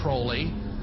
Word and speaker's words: Crowley: learned about aleister crawley he likes to be have his name pronounced crowley to rhyme with holy and uh the satanists